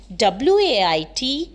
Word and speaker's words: weight: tells about that okay next is wait w-a-i-t and w-e-i-g-h-t both the words sound same wait but wait wait it